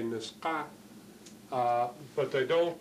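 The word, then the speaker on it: Nisga'a: this way, N-I-S-G-H-A, and what they're attempting to do there is to spell the way they pronounce it in their own language, their name for themselves, which is Niska, Niska, Niska.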